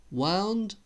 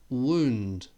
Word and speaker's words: wound: wound how's about that wound wound spelled the same sound different okay number two